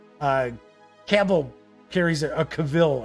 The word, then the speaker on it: Cavill: So, Melwinia says, Cavill carries it, Cavill, I should say, pronounced Cavill, carries it in my opinion.